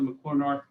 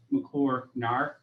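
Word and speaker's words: McCluer North: the all-important uh question i did go to mccormart high school or properly pronounced mcclure narc high school i'm an 88 grad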